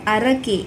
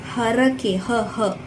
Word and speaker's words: ಹರಕೆ: It's not ಅರಕೆ, it's ಹರಕೆ, ಹರಕೆ.